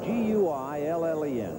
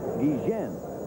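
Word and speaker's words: Guillén: Guillen is trying to bird dog Baylor a little bit and cut down his lead.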